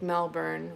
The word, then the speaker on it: Melbourne: The American accent overpronounces R. Sounds like Melbourne when it should be more said more.